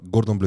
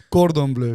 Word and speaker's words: Cordon bleu: Gordon Bleu, sag ich. Wie Gordon Ramsay. Cordon Bleu, gut.